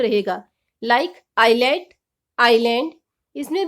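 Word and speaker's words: Ireland: होगी S silent ही रहेगा इसको हम बोलेंगे आयरलैंड साइलेंट टी किसी भी वर्ड में टी के बाद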